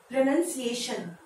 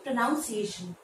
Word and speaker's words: pronunciation: इसलिए अब से इसको आप प्रोनाउंस करेंगे प्रोनंसिएशन, ना कि प्रोनाउंसिएशन।